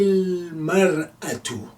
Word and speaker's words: المرأة: Finally, هذه المرأة.